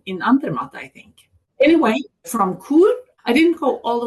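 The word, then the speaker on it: Chur: Then I went back down off my mountain to Brig and I took the train over to Kur, which we now know again from your podcast that's how we pronounce it because the Glacier Express has food served on it all the way from St.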